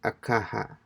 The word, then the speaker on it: caja: in la cara a the last word here is a little tricky on how you pronounce it so it sounds more like akaha akaha the book is